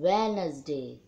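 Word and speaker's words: Wednesday: number में है वेडनेसडे लिखते वेडनेसडे और पड़ते हैं वह नसरुद्दीन को साइलेंट कर देते हैं वेनिस वेनिस जैक उर्दू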